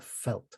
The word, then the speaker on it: Veldt: It's called The Veldt, or my Afrikaans speaking friends tell me that it should be pronounced the Veldt with a f, like the German V is pronounced as an F.